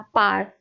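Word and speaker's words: power: वैसे ही अभी मैंने पावर बोलते हैं, वैसे मैंने क्या कहा था, पार, तो इसकी भी प्रोनाउंसिएशन पार बोलते हैं हम, ठीक है।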